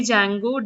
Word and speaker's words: Django: It is actually Django, D is silent.